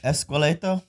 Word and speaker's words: esqueleto: I was pronouncing it wrong. Esqueleto.